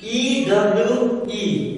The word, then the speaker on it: ewe: How you pronounce it? E-W-E, ewe, okay?